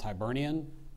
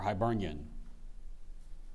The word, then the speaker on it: Hibernian: name and a Latin derived English element it's pronounced Hibernian or Hibernian Hibernian h i b e r n i a